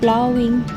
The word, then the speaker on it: ploughing: And the another word ploughing. This word should be pronounced as plowing.